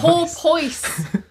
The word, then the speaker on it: porpoise: And how do you say porpoise? Porpoise.